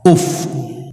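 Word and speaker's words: أف: Yang kedua, kalimat yang dua huruf yang tidak boleh diucapkan adalah kalimat alif dan fa. Uf. Kalimat uf. Alif fa. Kalau tadi lam wau. Nah, sekarang alif fa uf.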